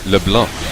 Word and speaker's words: LeBlanc: a problem yeah I've been corrected on my pronunciation of LeBlanc apparently according to Min Macho X it should be lebl without the you know the silent k in